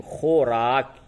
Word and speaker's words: خوراک: زبر را، کاف ساکن، خوراک۔ یہاں پہ واو کو پڑھیں گے، خوراک۔ فے ہے زیر